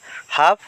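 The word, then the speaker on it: half: টক টক মানে কথা কওয়া ইয়াতে এল টো সাইলেন্ট বর্ণ হইয়াছে হাফ হাফ মানে আধা ইয়াতে এল সাইলেন্ট বর্ণ হইয়াছে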